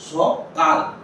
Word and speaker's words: সকাল: বলি না আমরা বলছি সকাল অর্থাৎ শুধু কিন্তু ল এর পরে আর কিন্তু আমরা অ এর উচ্চারণ হচ্ছে না তাহলে গীতা কিন্তু এখানে